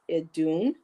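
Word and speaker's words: Iðunn: that in okay now Kristen told me to pronounce i as in the soft ey so as an imitation so it's adun the Norse goddess of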